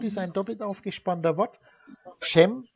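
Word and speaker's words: שֵׁם: Schem, spricht man das dann aus mit der E-Vokalisierung.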